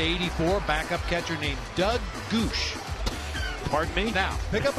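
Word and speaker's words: Gwosdz: Here's how he spelled his last name. G-W-O-S-D-Z. G-W-O-S-D-Z. Goosh. Are you sure that's the correct pronunciation? That's the correct pronunciation according to Baseball Reference.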